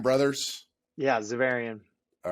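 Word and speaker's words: Xaverian: it uh i want to say this right zavarian brothers yeah zavarian all right so i said it right uh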